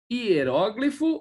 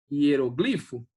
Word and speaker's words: hieróglifo: Hieróglifo ou hieroglifo.